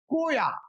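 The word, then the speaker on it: Croix: ঐতিহাসিক সেন্ট ক্রোয়া, ঐতিহাসিক সেন্ট ক্রোয়া, বিশিষ্ট ঐতিহাসিক সেন্ট ক্রোয়া, সেন্ট বাংলা উচ্চারণটা হবে ক্রোয়া।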